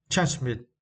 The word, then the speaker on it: transmit: The word transmit. Yeah, transmit. And for this word, you need to stress the second syllable. Mid, right? Mid, transmit.